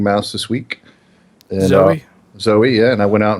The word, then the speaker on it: Zoe: a YouTube channel dude don't ever say zo again or people will Eat You Alive sorry Zoe that's not how Zoe is even spelled why would he be pronounced like that it's it's Zoe trust me okay I